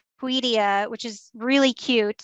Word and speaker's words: Tweedia: Tweed, like the fabric. A tweed. Yeah. And then IA. Tweedia. Yeah.